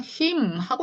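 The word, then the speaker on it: hymn: 이런 단어도 있어요 것도요 마지막 에 붙어 있는 앤이 지금 음이라는 건데요 그냥 힘하고 읽어 주셔야 돼요 힘네 요거 그냥 힘하고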